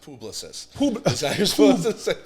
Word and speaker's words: Publicis: okay so give me it is a French company so it's pronounced publicist right exactly and you